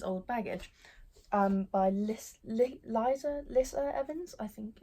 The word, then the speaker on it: Lissa Evans: I have is old baggage by Liszt Liza Lissa Evans I think it's how you pronounce it this was actually recommended to me